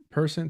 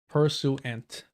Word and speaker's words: pursuant: that they were wiretap person to court order person. Why am I saying that wrong though? I feel like I'm saying it wrong. Like pertaining I guess. Pursuant. Oh, like pursuant.